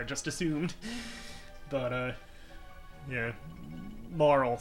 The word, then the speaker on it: Marle: assumed but uh yeah maral seems to be the accepted pronunciation but whatever that's right